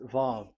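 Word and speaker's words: ו: So it's V as in Vogue. So it's really V. How to read Vogue? So the word, the shape Vav is really pronounced V, like Vogue. That is it, pronunciation. So here in this side, it's pronunciation. This is pronunciation. So according to the old Hebrew word today, those who the owner of the word, I mean, so it's a V. So don't change it into W, and you will say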